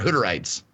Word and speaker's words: Hutterite: They're Hutterites, is what we have in Montana.